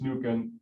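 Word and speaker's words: Mnookin: so jennifer and i'm going to think it's nukan um because it's m-n-o-o-k-i-n and i'm actually really have a gut feeling that the m is silent um and then it's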